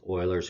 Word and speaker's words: Euler: interesting concept known as euler's constant euler's constant almost spelled like the football team in case 5 we